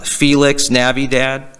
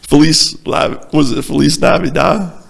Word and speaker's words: Feliz Navidad: Feliz Navidad? Or La Vida? What, am I saying it wrong? Yeah, I think so. Yeah, I know. At least I got the first part right. Feliz Navidad.